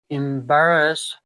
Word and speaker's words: embarrass: And the second verb is embarrass. Embarrass. It is a three syllable word and it stresses on the second syllable.